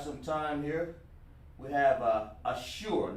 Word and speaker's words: Ashur: Ashur. This is how it's pronounced. Ashur.